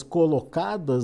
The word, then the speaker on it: colocada: Vocês poderiam dar um insight ou alguns insights sobre plantas colocadas, né? É esse o termo correto de se pronunciar? Colocadas, é isso mesmo? De locação? Isso mesmo, Alex. Co-locada, né?